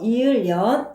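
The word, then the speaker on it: 이을 련: 련은 연이라고도 발음하니까 주의해 주세요. 이을연, 이을연입니다.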